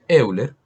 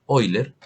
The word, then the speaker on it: Euler: número valga aclarar que la e es de euler o con una pronunciación menos golpeada oyler en honor pues al